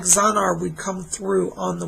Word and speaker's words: Zanar: And you have a spirit guide around you named Zanar. Z-A-N-A-R. Zanar. Zanar is the name of your spirit guide. Z-A-N-A-R is how it's spelled.